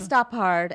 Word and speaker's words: Stoppard: The Brits all say Stoppard? Stop Hard, and the Americans all say Stoppard.